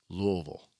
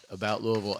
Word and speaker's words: Louisville: Louisville. Yes, it's Louisville, not Louisville, not Louisville, Louisville. It's funny when I talk to somebody about Louisville, and they say that,